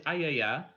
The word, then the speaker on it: AYAYA: And to answer Kazume's question about how you pronounce AYAYA, it is AYAYA. You normally want to do it with a higher pitch voice, but my voice is dying tonight, so I can't really do the higher pitch.